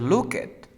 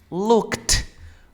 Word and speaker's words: looked: Ya no vayas a decir look it. Vas a Okay. decir looked, looked. ¿Te acuerdas del sonido de la T?